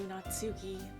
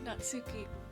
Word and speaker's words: Natsuki: Thank you, Natsuki. Why did I say it like that? Thank you, Natsuki.